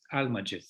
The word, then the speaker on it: Almagest: How do you pronounce it in Greek? Almagest, yes.